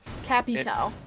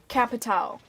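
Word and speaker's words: Capitão: you say capital really you say it like cappy's hou like like c-a-p-p-y and then t-a-o like cappy cappy towel it is how it is like capitao cat pit cat towel not cappy towel cappy towel no capital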